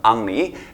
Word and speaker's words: Henri: 영어 발음 은 ... 프랑스 식 발음 으로 는 앙리 (Henri) 입니다 .